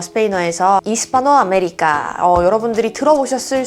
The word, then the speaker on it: Hispanoamérica: 아체는 발음이 되지가 않죠. 스페인어에서 이스파노 아메리카, 여러분들이 들어보셨을 수 있을 것 같아요.